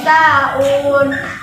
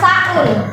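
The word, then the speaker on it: ساهون: Bacanya bukan saun, ya. Bacanya adalah sahun.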